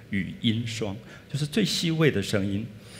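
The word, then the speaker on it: 瀧: water on the left Some people pronounce the word as « lung » But it’s actually « Shuang» Yu Yin Shuang Means the smallest sound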